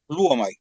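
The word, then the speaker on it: λούομαι: Es un diptongo, la O con la U se pronuncia como U, Ya. luomai, eso.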